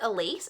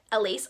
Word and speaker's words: Elise: like same spelling, and they pronounced it Elise, and I was like, oh, and then so I watched a video from this author, and it is pronounced Elise, so I've just been pronouncing it incorrectly this whole time.